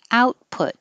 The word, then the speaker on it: output: your lips put and stress on in and out input output and hold the t's